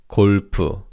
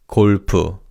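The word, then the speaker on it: 골프: Golf in Korean is kulp. Let's say that together. Repeat after me. Kulpoo.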